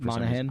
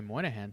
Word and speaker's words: Monaghan: Oh Cameron like yeah I can't pronounce that last name Monaghan I look at it and I'm like that's not how that's not how you say spell money I say Moynihan too but it's Monaghan yeah but that doesn't look